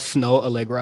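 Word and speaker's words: Snoh Aalegra: Have you heard that Snow Allegra album?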